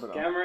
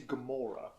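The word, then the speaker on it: Gamera: talking about like a camera is like a knockoff Godzilla the correct pronunciation is Gamora that's not very short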